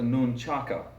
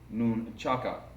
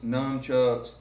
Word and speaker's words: nunchaku: one to begin with pronunciation it is a nunchaku nu n CH a K you noon Chaka you will hear me sometimes refer to them as a new truck because that's a colloquial istic pronunciation or slang even in the Orient they are not however noon chugs nunchucks or chucks please refrain from using